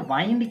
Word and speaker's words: wind: अच्छा, वाइंड WIND, वाइंड हवा वाला नहीं, तेज हवा वाला। वाइंड घड़ी में चाबी देने वाला, घड़ी में चाबी देना, ठीक है ना। आई वाइंड माई क्लॉक, मैं अपने क्लॉक को चाबी देता हूँ। वाइंड वो घड़ी में चाबी देना, वाइंड। या वाइंडिंग वेज, जिगजैग जो रास्ते होते हैं उसे कहते हैं वाइंड। पढ़ेंगे वाइंड लॉन्ग वाउल के साथ, लॉन्ग आई के साथ, वाइंड।